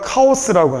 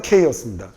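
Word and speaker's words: chaos: 아 우리가 카오스라고 하는요. 영어 발음으로는 케이오스입니다.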